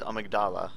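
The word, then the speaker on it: Amygdala: that by the way the pronunciation is amigdala because uh one of the npcs says it that way should i get grabbed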